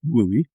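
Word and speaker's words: WUI: You know, the the wildland urban interface, often called the WOOI, pronounced WOOI, is it it presents an interesting challenge.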